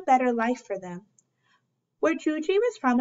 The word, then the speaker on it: Yuyi: life for them where Georgie was from in Mexico the Y's pronounced like a J so that's why her